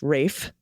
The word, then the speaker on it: Ralph: bruges with colin farrell brandon gleason and ralph pronounced rafe fines aka voldemort that's right rafe does play